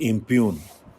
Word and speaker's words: impugn: Next is इम्प्यून, IMPUGN. इसमें G silent होता है.